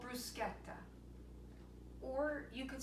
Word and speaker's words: bruschetta: So today we are going to be making an Italian antipasto appetizer called bruschetta, or you could say bruschetta, but it is not pronounced bruschetta. It is mispronounced all the time.